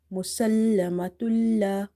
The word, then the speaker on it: مسلمة: Okay, so here will be just merging, there will be no ghunna. You have to say musallamatul. If you say musallamatul, then it will be wrong pronunciation. So in order to pronounce it right, you have to just merge it and carry on reading it.